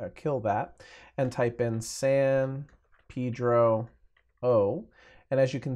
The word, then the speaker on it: San Pedro: I could create a new group called San Pedro and yes that's how they say it in Southern California I don't know why